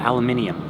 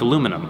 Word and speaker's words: aluminum: They call it aluminium. Aluminium. I don't know how they pronounce it. It's aluminum, okay?